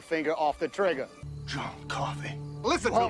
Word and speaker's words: Coffey: John Coffey, man. Like to drink. Only not spelled the same.